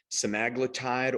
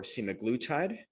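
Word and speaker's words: semaglutide: We'll be sharing with you some of the breakthroughs on peptides like Semeglutide or Semiglutide. Same peptide, different pronunciation.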